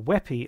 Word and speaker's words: WebP: The new kid on the block is WebP, or WePy as it's normally pronounced.